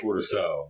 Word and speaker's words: Curaçao: The real name for it is Curaçao.